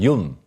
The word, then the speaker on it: Jun: being pronounced differently because when people read it it's juu n and and that's in German Yun um and but I